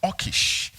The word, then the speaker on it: Achish: Pronounced Achish.